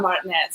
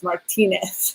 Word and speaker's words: Martinez: It's either my last name's Martinez, and sometimes they'll say Martinez. And I'm like, okay, it's not Martinez, it's Martinez.